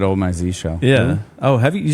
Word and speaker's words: Zsh: otherwise but if you're people say Z shell because that's just how they say Z in some places um I have a